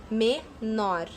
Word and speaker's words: menor: tônica a última sílaba ó menor olha como fala mais alto menor então nor é a última sílaba e ela é mais forte depois bebê termina com